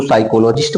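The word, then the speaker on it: psychologist: जैसे पी यस देखो आया, हमारा पी साइलेंट हो जाएगा, यहां से बोलेंगे इसको साइकोलॉजिस्ट बोलेंगे, पी का कोई उच्चारण नहीं करेंगे।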